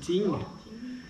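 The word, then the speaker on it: 精: Ça s'écrit Jing, mais ça se dit Ting.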